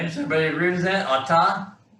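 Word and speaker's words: אתה: Atah? Does atah sound right to everybody? Okay, that's atah. That's masculine singular for the word you.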